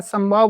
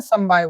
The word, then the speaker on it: समवाय: मैं बार-बार संभाव बोल सकता हूं क्योंकि अभाव के प्रोनाउंसिएशन की मुझे थोड़ी आदत है इसलिए संभाव निकल जाए तो समझ जाना मैं संवाय बोल रहा हूं।